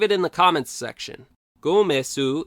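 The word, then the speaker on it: ゴメス: Gomesu is how the name is pronounced in Japanese, and in English-speaking areas, its name is usually written either Gomess or Gomez.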